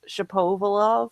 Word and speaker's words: Shapovalov: And I thought it was so cute because it's Shapovalov apparently, and he said the first part is like the French word for hat, chapeau, and I'm like, this is awesome.